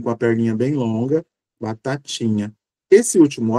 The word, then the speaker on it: batatinha: Na minha pronúncia eu digo batatinha, mas é claro que em algumas regiões as pessoas usarão o mesmo T da sílaba tá para a sílaba ti e pronunciarão batatinha, que é esse T, ó, ti, que usa a língua e os alvéulos, né? não chega a tocar nos dentes.